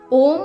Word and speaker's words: ॐ: ओम शब्द में पूरी सृष्टि समाई हुई है। इसके उच्चारण से सकारात्मक ऊर्जा का संचार होने लगता है। ऐसे 3 अक्षर से अ, उ, म से मिलकर बना है ओम।